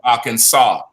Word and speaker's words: Arkansas: That word is pronounced Arkansas. That last S is silent.